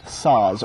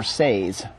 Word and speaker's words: Saaz: The bittering hops are Pearle, most people pronounce it Pearle, and Saaz, most people pronounce it Saaz or Saaz.